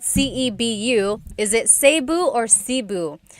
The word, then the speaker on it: Cebu: So, technically in the Tagalog alphabet the letter E can be pronounced E or E like the letter I. So, I say Cebu. Cebu. And I know some people say su, but usually it's either Cebu or Sebu.